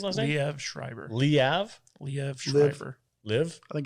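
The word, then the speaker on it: Liev: we have schreiber have live i think it's live i think it's leave like liv tyler it's like it's like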